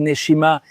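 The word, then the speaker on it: נשימה: En fait, le mot respiration en hébreu se dit neshima.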